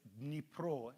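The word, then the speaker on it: Dnipro: e p r and the ukrainians i think call it n pro d n i p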